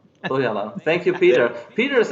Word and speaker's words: Põhjala: Põhjala. Põhjala. Põhjala.